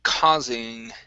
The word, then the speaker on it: causing: Okay, let's go to the word causing. Let's see. Okay, right here. Instead of causing, this is an ah sound.